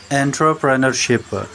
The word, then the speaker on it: entrepreneurship: Chapter का title है वेमन empowerment through एंटरप्रेन्योरशिप। एंटरप्रेन्योरशिप और एंटरप्रेन्योरशिप, ये इसकी प्रोनाउंसिएशन है।